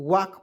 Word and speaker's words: walk: वाल्क पढ़ेंगे, बहुत लोग वाह आधा लक वाल्क पढ़ लेता है, बिल्कुल गलत। क्यों गलत, आइए इसको समझाते हैं, बिल्कुल ध्यान से देखिएगा। चलिए एक बार में याद करा दूंगा दोस्तों, आपको जो है टेंशन लेने की बात नहीं है। देखिए WA से क्या होता है, वाह, देखिए WAL की, तो वाक पढ़ते हैं, WA से वाह होता है, के से क लिखते हैं, तो क्या हो जाएगा दोस्तों, वाक।